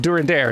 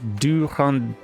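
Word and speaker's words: Durendaire: in the future also sorry for my pronunciation on during their it's probably more like du hander uh french r's are hard and also french vowels are tricky as well for me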